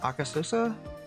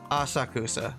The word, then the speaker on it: Asakusa: Aka, was it Akasosa? Akasa. God damn it. How do you pronounce that?